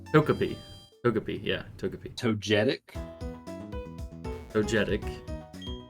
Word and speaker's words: Togepi: Togeap. Togepi.